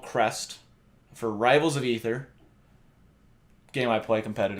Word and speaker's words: Aether: Maybe you always thought it was called Aether. Because I always thought it was Aether. Wait. What did you call it? Ether. It's pronounced Ether.